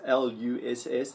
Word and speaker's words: loess: Some people call it Loess or Luss, pronounced Luss, the Luss Plains, and that was at one time an extremely fertile part of the world.